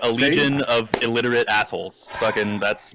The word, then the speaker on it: Allegaeon: A legion for everybody who's been saying it wrong this whole time.